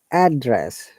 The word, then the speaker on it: address: be confused so when we use noun we stress on the first part of the vowel so this address okay it's like you